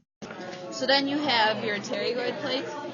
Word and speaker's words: pterygoid: then you have your pterygoid plates. There's a P in front of it, but they're actually pronounced pterygoid.